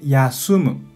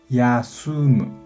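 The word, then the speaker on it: 休む: podemos recordar esta letra on mi pronuncia kunyomi pronuncia con la ayuda de hiraganas informalmente yasumu yasumu formalmente con forma más yasumi má yasumi má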